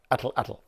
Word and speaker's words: atlatl: What is an Atlatl, you may say? Properly, in the Aztec Nahuatl language, it's more closely pronounced Atlatl.